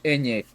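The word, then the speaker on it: eñe: That symbol is pronounced Enye.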